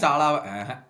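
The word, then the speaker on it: Salah: ஆனா வந்துட்டு சாலாவை வந்து அவன் ரெஸ்ட் கொடுக்குற மாதிரி தெரியல, இல்ல சாலா விடுறது இல்ல. அதான் சாலா கிடையாது, சலாவை விடுறது இல்ல, சாலா கிடையாது. நீங்க வந்து தப்பா ப்ரொனவுன்ஸ் பண்ணாதீங்க, சலா.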